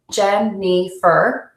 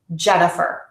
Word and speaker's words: Jennifer: can see the difference let me use a syllable time to say my name gem nifer as opposed to a stress time Jennifer so you can hear that first vowel in gen is nice and long the middle vowel is